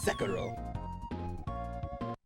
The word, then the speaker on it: Sekiro: I suspected you were capable of pronouncing Sekiro, but honestly it made me feel better to hear you use the Japanese syllable emphasis just the once. Sekiro.